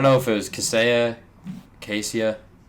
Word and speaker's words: Kaseya: I don't know if it was Kaseya, Casea. Kaseya.